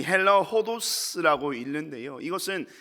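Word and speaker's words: ὁδός: 이 헬라어 호도스라고 읽는데요, 이것은 뭐 길 혹은 여행이라는 두 가지 단어를 사용합니다.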